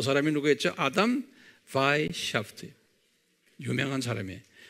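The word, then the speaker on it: Weishaupt: 그 사람 이름이 아담 바이샤프트라고 그래요. W-E-I, 독일 말은 W를 V 발음하거든요.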